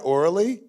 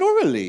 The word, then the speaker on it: Aurelie: Did he pronounce that right? Orally? Aurelie? Which one? Aurelie. Orelli. Oh, so he didn't pronounce it right at all. Aurelie. She said Aurelie.